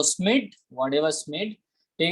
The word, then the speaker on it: Schmidt: हाउ you will pronounce it, anyone want to pronounce it, यू कैन। ठीक है, सो स्मिड, whatever स्मिड, ठीक है, स्मिड भाई साहब, and supported by the foster.